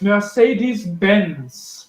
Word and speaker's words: Mercedes-Benz: Next, Mercedes-Benz.